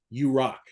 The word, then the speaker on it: UROK: UROK is the acronym, which you could pronounce as "You Rock."